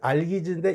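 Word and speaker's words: Algiz: 이것은 이제 알기즈라는데 X자와 같은 것이 알기즈인데 이게 바로 활입니다. 활. 됐습니까? 둥그런 활을 뜻이고, 발음은 알기즈라고 있는데 이게 바로 X자와 같은 겁니다.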